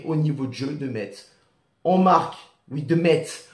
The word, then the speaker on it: Metz: Je dis Metz, je prononce le T, je vous emmerde.